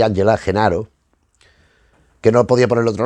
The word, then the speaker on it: Gennaro: En este caso, Genaro, pues debe ser Genaro, me imagino, que la G será pronunciada como Y, pero no sé, podría haberle puesto otro nombre.